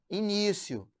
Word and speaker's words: início: Aí você tem aqui, ó, a palavra início, que é diferente de inicio. Aí você tem aqui a sílaba tônica e aqui na sílaba tônica com o acento gráfico e aqui o acento prosódico. Em início eu tenho substantivo e em inicio eu tenho verbo.